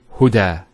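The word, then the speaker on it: هدى: Now this is not actually a ya, it's an alif. It's called an alif maqsura, and it's exactly like an alif, the way it's pronounced. It's like a ya without the 2 dots. So we say huda.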